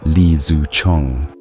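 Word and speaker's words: Li Zicheng: In 1644, rebel forces under Leang, pronounced Li Zu Chong, stormed Beijing.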